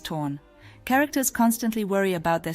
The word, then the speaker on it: ton: And yes, according to my research, it's spelled to O N, but said as torn.